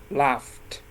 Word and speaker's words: laughed: Laugh, the last sound of this word is f, right? F is also voiceless. So when you add ed, you pronounce it laughed, okay?